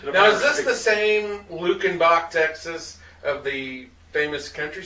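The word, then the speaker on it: Luckenbach: uh 200 miles from i guess it is pronounced lukenbach then uh i wasn't sure how that was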